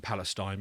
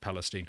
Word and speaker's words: Palestine: is East a Palestine I think it's written Palestine but they pronounce it Palestine so yeah the wrong